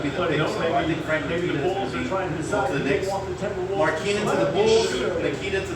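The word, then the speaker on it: Markkanen: The 2 best shooters in the draft are Malik Monk of Kentucky and Lauri Markkinen of Arizona. Markkinen. My bad. I'm pronouncing his name wrong. It's Markkinen. Lauri Markkinen.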